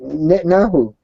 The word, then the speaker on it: Netanyahu: You sound like George Bush trying to pronounce Netanyahu. Netanyahu. Netanyahu.